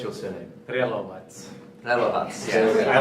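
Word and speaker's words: Prelovac: Yeah, how do you actually pronounce your surname? Relovats.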